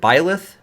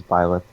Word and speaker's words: Byleth: And Greg, how do you pronounce it? Is it Byleth? yeah, it's Byleth.